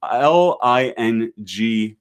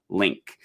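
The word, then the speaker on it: LingQ: this link is spelled l-i-n-g-q it's not pronounced ling q it's pronounced link um and it's a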